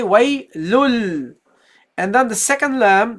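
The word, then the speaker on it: وَيْلٌ لِّ: You drop the tanween. You don't say waylun. You say waylul. So you replace the noon with a lam.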